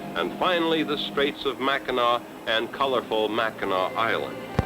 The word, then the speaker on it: Mackinac: i'm sure you know mackinac is spelled mackinac ending in ac but as we were repeatedly cautioned aboard ship michiganders pronounce it mackinac a city ordinance prohibits